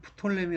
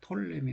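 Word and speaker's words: Ptolemy: 피해액이 수업 포토 레밍 우리는 프톨레미 라고 있는데 영어권에서는 잎이 입자가 묵음 이라네요 그래서 톨레미 라고 많이 있는 것 같아요 어쨌든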